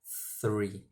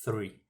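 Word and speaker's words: three: Então, esse TH a gente pronuncia da seguinte forma, com língua nos dentes superiores, né? E deixando o ar passar entre eles. 3, ok? 3.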